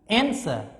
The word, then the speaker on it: answer: answer no just answer so sir here no stress no stress for the second syllable you can pronounce answer you cannot say answer no just answer so you have to